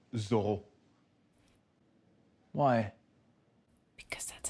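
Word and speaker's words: Zoreaux: Oh, exactly, but it's actually pronounced Zorro.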